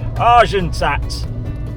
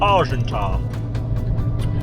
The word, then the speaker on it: Argentat: off to marsha or as the english call it arjun tsat they pronounce the tea when you don't have to it's actually called argenta where are we going